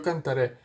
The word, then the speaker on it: cantaré: Cuando nosotros decimos I will sing, yo cantaré. En inglés lo haríamos, en español lo haríamos así. Pondríamos estas terminaciones finales. Yo cantaré. Terminaríamos con un acento en la E.